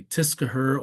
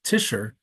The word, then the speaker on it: Tischer: And if you're not familiar with German, maybe somebody might say Tiskaher or Tischer or Tische, like the Germans would, but it's none of those things. And if you notice that in some of those, the way people pronounce it, um, you might think you have to pronounce a C, but you really don't. So the name is just going to be Tischer. It's like Fisher, except instead of F, it's a T.